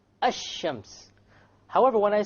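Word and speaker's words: الشمس: Notice when I say ash-shams, which is the Arabic word for sun, where is the lam? Silent. Silent. It's not pronounced, right? Ash-shams.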